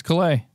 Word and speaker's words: Calais: And it's Calais. And I only know how to pronounce that one because of Alex told me once upon a time.